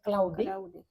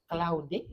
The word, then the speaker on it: Claude: je me trompe pas ils prononcent claudé cloudé et les les Américains